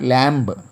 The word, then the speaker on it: lamb: L-A-M-B, not lamb, lamb. Here B is silent. We should not pronounce B here.